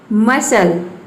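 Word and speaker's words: muscle: Saint, science, seal, मसल, seizures, accent, इसको pronounce करेंगे accent.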